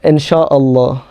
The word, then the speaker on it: inshallah: Can you pronounce it slowly? Sorry, I speak quickly. That's okay. No, inshallah.